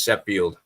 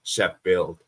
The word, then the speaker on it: Sheffield: most popular as as shef field United not Chef field wait what right did